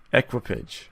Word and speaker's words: equipage: To march in the ranks, so to be part of people that has better how does it say to pronounce it? Equipage. Equipage? Yep. Equipage.